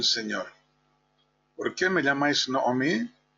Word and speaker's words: Naomi: agradable Por cierto que la pronunciación exacta del nombre de Naomi es conflictiva puesto que muchos siguen una antiga costumbre de algunos sefarditas y lo pronuncian Naomi eh Aunque está claro que según las reglas gramaticales debe ser noomi en griego y en latín se conviene se convierte en noem eh con la con